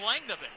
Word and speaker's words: Langdon: It's Langdon. Langdon. That's the pronunciation for his name.